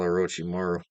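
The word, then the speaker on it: Orochimaru: idea how to spell a roochi Maru o r o o r o c h c h i Maru okay okay just how it's spelled it's literally spelled like the snake God just how it's SPI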